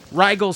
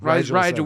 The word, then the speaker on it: Rigel: Now, the question is he mispronouncing it or is everyone else mispronouncing it? Here we go. It's him. Moon over Rigel 7. Rigel 7. As opposed to Rigel. Rigel. We always hear Rigel.